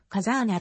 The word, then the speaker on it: 風穴: 状の穴をカザーナと書いてカザーナと読む強力の首都つ武器や